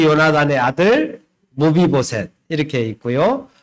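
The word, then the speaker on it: 므비보셋: 무비보셋. 한번 따라해 보겠습니다. 무비보셋. 무비보셋. 예.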